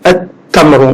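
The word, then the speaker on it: التمر: Par contre, dans les lettres solaires, le lam, il s'écrit obligatoirement, mais il n'est pas prononcé. Donc de alif, on passe directement à la lettre, comme ici, at-tamru.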